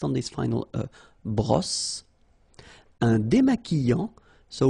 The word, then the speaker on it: démaquillant: So we've got this QU, but then U is not pronounced. So you get the sound qui. Okay, and then remember, double L after E will give you the sound y.